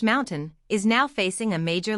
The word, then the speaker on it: MNTN: Ryan Reynolds company, Mntn Incorporated, pronounced Mountain, is now facing a major lawsuit.